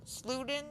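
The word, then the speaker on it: Siedow: uh Jim slooten uh s-l-e-d-o-w sluden I think that's how you say his name he's he's credited as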